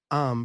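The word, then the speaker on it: Eyam: Arm, pronounced like M, is a peaceful community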